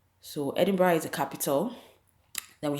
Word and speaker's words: Edinburgh: It's spelled Edinburgh the way you pronounce Johannesburg, but please the pronunciation is Edinburgh. So Edinburgh is the capital.